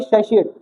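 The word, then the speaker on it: satiate: शेशिएट। श आता है इसमें। शशिएट। क्या बोलते हैं? शशिएट। अब श कहां है? इसमें इसमें तो टी आ रहा है। श कहां है? एस कहां है? तो इसलिए प्रोनाउंसिएशन पे ध्यान नहीं देते।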